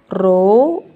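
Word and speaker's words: rho: masukkan rumus P = row kali G dikali hal ini bacanya roh bukan p tak masukkan angka 1000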